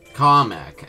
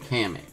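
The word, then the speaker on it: Kamek: or should I say comic as an independent director announcer guy called him like really comic that's not how you say his name it's kamik Koopa Troopa um I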